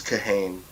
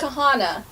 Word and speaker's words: Kahane: That beta Okay, this is kahane. Uh, it was it's pronounced kahana by the way.